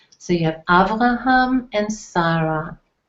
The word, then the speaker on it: Avraham: These are the Hebrew pronunciations, so you'll know we'll be using the Hebrew pronunciations very often. So you have Avraham and Sarah, Yitzchak and Rivka.